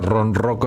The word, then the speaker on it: ronroco: casi nadie conoce incluyendo la forma en que se pronuncia Ron roco en lugar de coro o más o menos así en su caso Marina